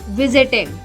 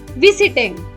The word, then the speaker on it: visiting: Compare, however, visit or enter, where the spoken stress is on the first syllable. Visit, visiting, not visiting. Enter, entered, not entered.